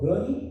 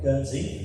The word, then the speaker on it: Guernsey: From a small little town called Gurney, am I pronouncing it right? Guernsey.